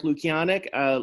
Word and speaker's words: Lukianek: Whitensville Christian Academy, Lukianek, if I pronounced that right. you there? I think you want to take yourself off mute if you can. There you go. Yes, you got the name right.